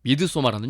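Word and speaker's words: Midsommar: 바로 2019년에 나왔던 미드소마라는 영화입니다. 미드소마, 영어식 발음으로 미드소마고요. 원어인 스웨덴식 발음은 또 미드소마르라고 합니다.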